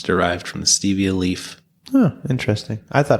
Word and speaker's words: Stevia: sound or a sound stress on the first syllable three syllables overall stress on the Ste Stevia it's easy Stevia